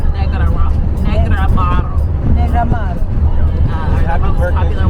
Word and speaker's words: Negroamaro: How do I pronounce? Is it Negroamaro wine? Negroamaro. Negroamaro.